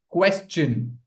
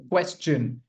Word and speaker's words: question: When you have s before t io n, what sound does it make? It makes the ch sound. Ch. Question. Question. That's the correct pronunciation.